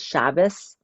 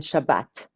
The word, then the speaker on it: Shabbat: one to remember is shabas and Shabbat shabas and Shabbat are exactly the same it's the Sabbath but in America with this older European pronunciation people say good chabas have a good chabas